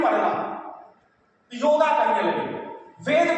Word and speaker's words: वेद: जैसे योग को योगा कहने लगे लोग, वेद को वेदा कहने लगे लोग, और संस्कृत जब संस्कृता हो जाएगा तब सब लोग समझेंगे संस्कृत से।